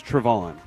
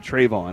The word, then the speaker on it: Trevon: See, this is weird because Trayvon Diggs told me his name was Trevon. And then everybody since then has said Trayvon.